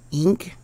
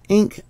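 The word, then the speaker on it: Encke: And research recently says that they believe that the debris from the Taurid meteor shower is from the comet Enk, which is spelled E-N-C-K-E.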